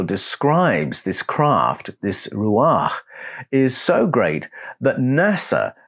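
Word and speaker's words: Ruach: sorcerer hovering over a body of water is pronounced Ruah and the writers remember that it created a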